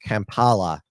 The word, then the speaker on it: Kampala: I get the pronunciation of it right it's pronounced Kampala there so but as I mentioned to you